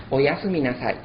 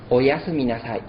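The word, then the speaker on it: おやすみなさい: Son 7 sílabas y son Oyasu minasai. Es para desear buenas noches o un buen descanso. Oyasu minasai.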